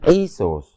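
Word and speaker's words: Iesus: Dari Isus, nanti tulisan Latinnya juga begitu, dibacanya Isus.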